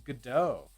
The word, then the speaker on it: Godot: i can't do that the tian godot is silent oh so it's gado i've heard it like